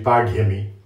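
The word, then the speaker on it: pāḍyami: Many people pronounce this as bali-pāDyami, but it's actually pāDyami.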